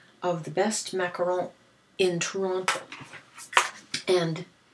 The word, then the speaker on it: macaron: criticize how she pronounced macaron when she was absolutely correct. It's the only way to pronounce it. It's not a macaroon.